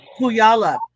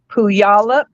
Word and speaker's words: Puyallup: Do you say Puyallup or Puyallup? Number one or number two? how do you say it? Puyallup? Is that how you say it, March? Puyallup. Yeah. I say it Puyallup.